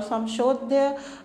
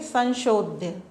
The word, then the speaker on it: संशोध्य: संशोध्य समधन शुद्धन लेप प्रत्यय से मिलकर बना हुआ है, और संशोध्य नहीं बोलेंगे अपन, इसका उच्चारण करेंगे संशोध्य।